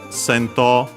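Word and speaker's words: 戦闘: Sento, unaccented, unaccented, it's a Chinese compound, means battle, fight, combat, Pokemon battles in our case here.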